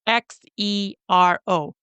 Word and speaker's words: Xero: Now, if you're interested in an alternative to QuickBooks, another app you can use is called Xero, and Xero is spelt with an X, so it's Xero.